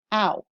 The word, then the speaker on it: ao: IAO, AO are one individual because AO pronounced one sound, ow.